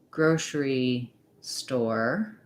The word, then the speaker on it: grocery store: put together into one we also do it in words like grocery store where we have stress the main stress on this first word grocery and then also some stress on store what you want to